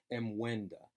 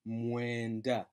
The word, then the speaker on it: mwenda: Now don't be tempted to separate the M and the W and pronounce it as mwenda. Just bring that MW together and just bleed into it as mwenda, mwenda.